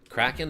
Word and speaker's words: Kraken: it Cen just cuz it's spelled k r a Ken right so like how am I supposed to know that that's pronounced Kraken and it wasn't until